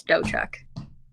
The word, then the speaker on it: Dotchuk: So, it's it's and the T is silent. So, it's doughchuck.